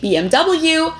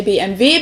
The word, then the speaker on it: BMW: english and in german in english people say bmw in german we say bmv because w is pronounced v in german and it stands